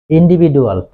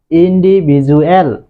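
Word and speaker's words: individual: ইন্ডিভিডুয়াল না হয়ে হবে ইন্ডিভিজুয়াল।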